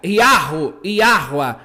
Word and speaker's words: Yahweh: É a pronúncia Yahweh, o Deus de Abraão, o Deus de Isaac, o Deus de Jacó não é uma trindade.